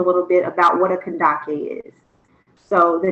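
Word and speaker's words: Kandake: Okay, so I want to start with the pronunciation and just telling you a little bit about what a Kandaki is. So the name is pronounced Kandaki.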